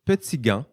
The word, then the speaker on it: Petitgand: Nous recevons Petitgand. On prononce comme ça? Je ne vous ai pas demandé ça en pré-entrevue. C'est parfait. Très, très bien.